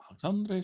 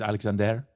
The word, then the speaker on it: Alexandre: I almost said Dre because it's kind of spelled that way, but I don't think it's pronounced. Isn't it actually Alexander with an er at the end? Yes, but I think he's French.